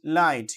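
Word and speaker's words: light: এল আইজি এইচটি লাইট খেয়াল করুন এখানে কিন্তু এইজিএইচটা উচ্চারিত হচ্ছে না।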